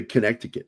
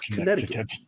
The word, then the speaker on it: Connecticut: they'll say Connecticut. And I'm like, no, it's Connecticut. Yeah. It's okay. It's how it's pronounced.